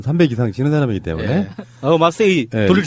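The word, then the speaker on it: マッセ: 마세이는 이제 정확히 일본어로는 마세예요. 마세.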